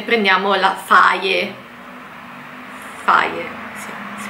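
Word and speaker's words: Fage: Faye, sì, si pronuncia così.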